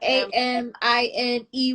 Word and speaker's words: Amine: Amine? Is that how you pronounce it? Amine? I never knew how to Anime. say his name. Anime. Like Is the it? It's a A-M. A.M. Mm-hmm. Oh, M. A-M-I-N-E with a Oh, Amine, Sir, and there was